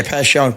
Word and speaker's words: Passyunk: same street what's that pass youngk is that how you pronounce it yeah pass youngk but it wasn't on